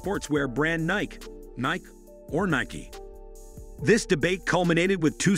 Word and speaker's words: Nike: it's become official that Ni-key rhymes with spiky.